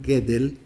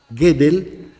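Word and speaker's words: Gödel: Einstein estoy hablando de kur gedel se escribe godel con diéresis en la o gedel decía la matemática es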